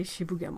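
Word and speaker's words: 渋谷: places like Shibu gamble yeah you gotta say Shibuya boy you cannot really say she began mu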